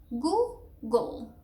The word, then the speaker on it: Google: And so you basically, the first syllable is goo, and then the second one is almost like the G and the L with no vowel at all. It's a schwa, but you can get rid of it basically.